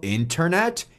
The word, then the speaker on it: Internet: bom se você falou internet Esse vídeo é para você no inglês americano nós vamos simplesmente ignorar esse primeiro t e vai ficar assim